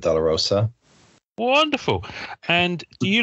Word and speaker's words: DeLaRosa: him but thinks um uh deler Roa is that how you pronounce it yes that's right my name is Del Roa wonderful and do you